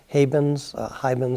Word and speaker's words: haibun: I found an interesting way to get them to think about that is have them write Hemans, however different people pronounce them different ways.